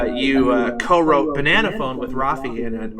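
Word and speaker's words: Raffi: does he pronounce it is it rafy rafy rafy see I always said rafy as a kid I don't know why it's an AR it's an Armenian name Rafi yeah oh okay well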